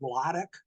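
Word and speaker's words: Władek: His first name was always pronounced Wladek, Killer Kowalski, but he wasn't Killer in those days.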